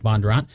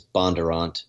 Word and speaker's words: Bondurant: And so the kind of in Northern Virginia, the northern pronunciation is Bondurant, but down in Franklin County they say Bondurant.